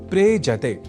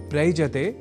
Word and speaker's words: प्रेजते: दोनों के मेल से शब्द बनता है प्रेजते। प्रयजते नहीं।